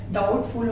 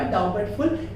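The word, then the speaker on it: doubtful: डाउटफुल, DOUBT FUL, अब भी टी के पहले यहाँ पर बी आ गया है इसलिए यहाँ पर डाउटफुल होगा, डाउबटफुल नहीं होगा।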